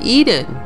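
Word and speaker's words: Ehden: across from has rune is called Eden eh D en which phonetically is the same as Eden ee d en as in the Garden of Eden now although it appears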